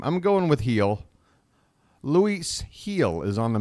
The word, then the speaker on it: Gil: named Brian heel so I've heard Gil pronounced but that sounds like an American trying to pronounce the name I'm going with heel Lis heel is on